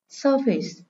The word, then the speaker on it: surface: Câu số 3, surface. Đây là danh từ có hai âm tiết, nên trọng âm rơi âm tiết số 1.